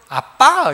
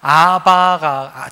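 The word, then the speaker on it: אבא: 물론 제가 전에 가서 아빠 그러면 야가 왜 이카노 할 거예요. 그런데 어느 날 성경을 보다 보니까 무심코 지나갔던 부분들이 딱 보이는 거예요. 예수님이 하나님을 아버지를 부를 때 아빠, 아버지라고 부르는데 아바가 정확하지 않고 발음 그대로 아빠예요.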